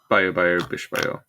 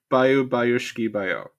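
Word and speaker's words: Баю-баюшки-баю: Yeah, the Huntress sings Bayo Bayo Bish Bayo. With the huntress, what? It was very adorable. You mispronounced it, and it was the best thing ever.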